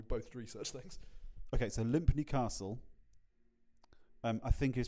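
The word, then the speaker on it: Lympne: air while we both research things okay so limpy Castle um I think is pronounced Lim Lim Lim just Lim so it's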